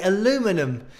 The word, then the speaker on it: aluminium: the usa people say aluminum instead of aluminium which is what the pronunciation i think should be considering how the word is spelled so aluminum that's something